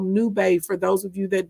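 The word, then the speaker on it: Nubay: them in the chat but let's talk about new bay okay and it's spelled n u b a y okay new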